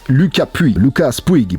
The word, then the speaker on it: Lucas Puig: Palace, Adidas, Lucas Puig, prononcé à l'anglaise, skateboarder français professionnel qui est signé chez Adidas et chez Palace Skateboard.